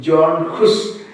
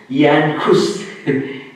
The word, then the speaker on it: Jan Hus: His name is, sometimes anglicized pronunciation, John Hus, Jan Hus.